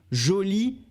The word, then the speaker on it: joli: prochain adjectifs qui est joli et jolie la prononciation ne change pas on remarque c'est féminin ou masculin seulement avec le e à la fin donc jolie et joli très bien alors nous